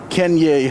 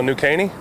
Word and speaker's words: New Caney: Let's start with Kenya High School. Whew. Did I pronounce it right? No, New Caney? New Caney, okay.